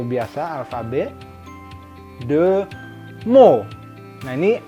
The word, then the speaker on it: mots: T di ujung bentuk singulier di bahasa Prancis seperti halnya alfabet kan itu ya. Tidak bunyi kan, les alphabets, T-nya kan nggak bunyi, ini juga sama.